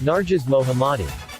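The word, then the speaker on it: Narges Mohammadi: it go oh there it is okay uh pronunciation key Nares mohamadi n Nares mohamadi uh and uh she uh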